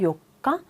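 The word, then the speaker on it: 四日: 요가라고 읽는 방식이 있어요. 볼까요? 4일이 요가예요. 그런데 14일, 24일만요. 이 요가를 따라와요. 그래서 14일 같은 경우에는 요 니찌가 붙지 않고요. 4일이 요가였잖아요. 14일은 주요가고요.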